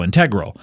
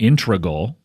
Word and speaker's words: integral: crazy and I said I believe it's either integral or integral it's not ingal the way certainly not ingal certainly not that but it's it's either